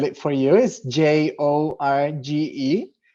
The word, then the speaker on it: Jorge: jorge i will spell it for you is j-o-r-g-e pronounced jorge and i'm i'm currently 35 almost 35